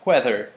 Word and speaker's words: whether: or divergent or Divergent whenever I see the word wheather I'm very particular about pronouncing the second no the first H in it the second